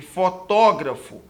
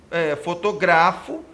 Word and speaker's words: fotógrafo: termos antropólogos e fotógrafo a sílaba tônica recai na penúltima não gente cai na antepenúltima reparem contado da direita para a esquerda última teno última antepenúltima última teno última antepenúltimo e também gente reparem que se caísse na penúltima sílaba não deveria ter assento porque nesse caso seria antropólogos fotografo e nesse caso as palavras seriam paroxítonas no entender do termo